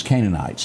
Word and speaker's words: Canaanites: And I'm pronouncing this Canaanites.